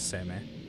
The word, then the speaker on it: Seimei: It definitely is Seimei. It is Seimei? Definitely. Okay. Looking at how that's spelled.